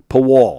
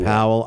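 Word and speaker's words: Pawol: P A W L. Powell. Someone in ESPN said Powell. Paw wall. I think it's pronounced. It's PW. Someone said Powell. I don't know. I don't think I'm almost positive it's not Powell, but it's pretty cool.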